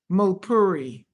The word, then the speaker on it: Mulpuri: I'm going to let him pronounce his name because I don't want to mess it up. Mulpuri. Mulpuri.